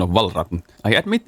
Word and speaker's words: Valravn: You see, Ravn in Danish means raven, and listen how it's pronounced. Valravn. Yeah, I'm not doing that. And I've actually learned the Icelandic pronunciation. Ra. So I'm kind of using that. For sure, the correct pronunciation isn't this.